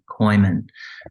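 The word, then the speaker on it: Kooyman: asked about is Dr Robert Kooiman and you spell that k-o-o-y-m-a-n koymon um Well published well revered um well-loved really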